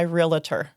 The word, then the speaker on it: realtor: But I mean, I guess in this way, it really just is realtor. Like that's Yeah. the proper way to say it.